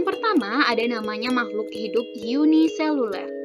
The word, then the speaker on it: uniseluler: ada namanya makhluk hidup uniseluler jadi ini bacanya Yunia yaitu makhluk hidup yang